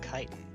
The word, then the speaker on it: chitin: Yeah, okay, so now we have a layer of chitin. That's how it's pronounced.